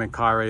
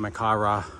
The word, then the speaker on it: Menkaure: Then we have Khafre and Menkaure in the back, or Menkaure, depending how you want to pronounce it.